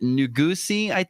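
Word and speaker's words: Nuguse: And then I think Yared Nugusi, is how you say his last name.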